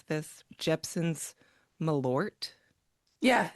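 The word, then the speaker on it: Malört: Do you know how to pronounce this? Jepson's Malort.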